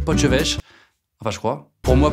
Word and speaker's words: potjevleesch: Pour moi ça, c'est une wassingue, j'adore les crêpes à la bière, et je sais prononcer poche-vêche.